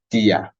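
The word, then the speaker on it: día: Edo finger Dia de and you see DIA has uh tilde on the eye right but that just means that that sound has to be stressed so dear uh-huh so D is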